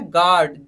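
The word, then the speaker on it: guard: silent कब रहेगा अब देखिए यहां पे यू साइलेंट कब रहेगा पहले है गार्डन जी यू ए आर दी God okay God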